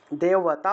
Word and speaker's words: দেবতা: এর মতই উচ্চারণ করব আর এই ব টা ও আর রূপে উচ্চারণ হবে তাহলে দেওয়াতা দেবতা এইভাবে দেবতা উচ্চারণ হবে আচ্ছা তারপরে দেখুন ব্রাহ্মার্ণীয়